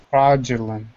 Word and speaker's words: fraudulent: Fraudulent. Yes. Who said that at the end? I was like, perfect. That was me. Yay. Okay. So this D-U sound, it's adding kind of a J.